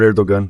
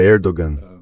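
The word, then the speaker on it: Erdoğan: Quando se pronuncia Erdogan, esse G com uma pequena marca em cima é tudo que restou da escrita árabe na escrita turca latinizada.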